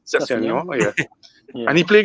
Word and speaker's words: Sessegnon: He bring on I don't know how to pronounce his name. Sessegnon. Sessegnon, yeah.